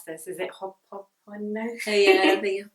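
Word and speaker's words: Hoʻoponopono: Okay, I'm not going to be able to pronounce this. Is it Ho'oponopono? Oh yeah, the Ho'oponopono.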